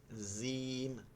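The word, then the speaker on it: جيم: না আপনি দাঁত লাগাচ্ছেন দেখেন আমি আপনার উচ্চারণটা বলতেছি জিম জিম এই যে জিহ্বাটা দাঁতে লাগতেছে আর জিম জিম জিহ্বাটা এই দাঁত পর্যন্ত আসতেছেই না জিম জিম জিম আরেকটা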